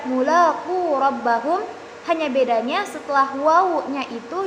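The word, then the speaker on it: ملاقو ربهم: Misalnya penulisan kata mulaqu rabbahum, dalam rasm ditambahkan alif setelah waw menjadi tetap dibaca mulaqu rabbahum, hanya bedanya setelah waw-nya itu ditambahkan alif.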